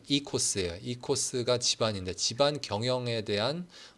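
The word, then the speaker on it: οἶκος: 여기 제가 적어놨는데 이제 요 앞에 오랑 아이랑 합쳐지면은 이 그리스 말에서는 그냥 이라고 읽는데 그래서 이코스예요.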